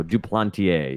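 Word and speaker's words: Duplantier: it came right up in baseball reference so do plenty a is the correct pronunciation and I will do a better job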